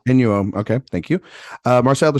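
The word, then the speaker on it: Inu-Oh: How you pronounce? Inuo. Inuo.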